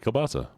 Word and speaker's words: kielbasa: How do you pronounce that? Kielbasa? How do you Yes, say that? you nailed that. Kielbasa.